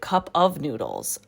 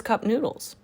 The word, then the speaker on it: Cup Noodles: By the way, I always pronounced it Cup of Noodles. Who knew that it was Cup Noodles?